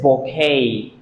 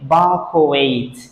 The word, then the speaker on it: bouquet: This is bouquet. Maybe some of you have pronounced that correctly, but usually students mispronounce it. They say bouquet. T at the end of this word is not pronounced.